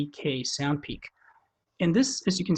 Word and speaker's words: sndpeek: It's spelled SNDPEEK, SoundPeak.